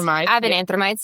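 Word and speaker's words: avenanthramides: Avenanthromides.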